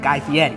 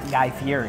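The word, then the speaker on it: Guy Fieri: watched the video and that's how you say it guy Fetti it's not guy Fury I don't know it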